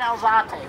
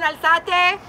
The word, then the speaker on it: Alzate: You're an Elzate. Where are you? And if I'm butchering your name, I apologize. No, that's okay. No, you said it right.